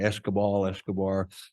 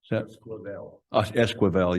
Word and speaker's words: Esquivel: I always say his last name wrong. Escobar. Esquivel, yeah.